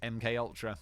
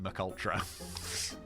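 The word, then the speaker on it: MKUltra: as the umbrella project MK Ultra I remember in one of my first ever videos on YouTube I pronounced it multra I don't know why this it's MK it's not MC I pronounce it like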